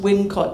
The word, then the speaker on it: Wilmcott: So, you look obviously then for another possible Wincott, and this spelt Wilmcott is actually still pronounced Wincott to this day.